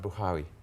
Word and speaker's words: Buhari: Well, it's actually an Arabic name, and it's pronounced Buhari.